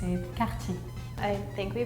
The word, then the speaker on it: Cartier: I can expect that you wouldn't pronounce it with a really French way, like Cartier.